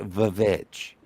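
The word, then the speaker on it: The VVitch: So yeah, but like the witch January 2017, it's pronounced the Vich.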